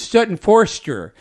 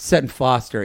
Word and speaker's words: Sutton Foster: And so she's like, coming up next is Sutton Forster. And she said the name wrong. And so Sutton came out and then sang, and they stopped it. And they actually said, Cher, that is Sutton Foster.